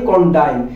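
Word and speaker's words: condign: দেখেন এইখানে জিটা কিন্তু আমরা উচ্চারণের ক্ষেত্রে বলছি, এইখানের জিটা কিন্তু সাইলেন্ট লেটার, এটা উচ্চারণ হয় নাই, তার মানে কন্ডাইন।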